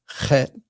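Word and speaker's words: ח: And then we have our first guttural letter here, Chet. And the way I teach it, it shows here that the CH as in Bach.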